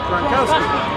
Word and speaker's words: Gronkowski: Gronkowski.